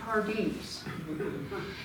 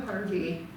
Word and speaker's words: Pardee: Furthermore, most of the Pardees are not related. Pardee, from the French, Pardee. That's 16th century pronunciation. The way I learned it in high school French is pour Dieu, for God.